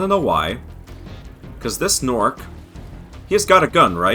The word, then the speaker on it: Gnorc: go back to the norc Nexus and they really committed to putting a silent g at the beginnings of all these words but yes so now